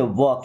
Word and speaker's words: वॉक: आप देखिए वॉक यहां पे एल साइलेंट है।